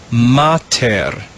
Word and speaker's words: mater: read this word together we put those syllables together to form the word mater now when we put the syllables back